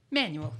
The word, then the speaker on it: Manuel: Is it Manuel or Manuel? Manuel. Yeah, it's spelled Manuel.